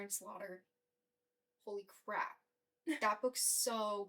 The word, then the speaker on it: Slaughter: yeah Karen Ken Slaughter there's no way that it's it could be pronounced slau slaugh something but Slaughter come on pretty girls I listened